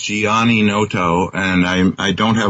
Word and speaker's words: Gianninoto: okay I was saying my name is pronounced Giani Noto and I I don't